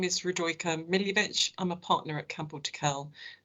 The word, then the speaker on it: Radojka Miljevic: just like to introduce yourself and correct my pronunciation thank you uh my name is rodroica milivech i'm a partner at campbelltokel and i'm here